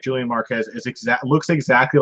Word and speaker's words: Julian Marquez: that a catchweight bout julianne moore qez what's the point of that mispronunciation okay okay missing wait by for it was there it was the awkward pronunciation that's romantic as you're going for a movie about julian mark how's mark how's Julian Marquez yeah ver silesia de